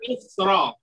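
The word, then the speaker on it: مصر: Jadi harus, ya, dua cara bacaannya situ. Ketika kita beri harokat, dia berharokat fathah, ana min Misra.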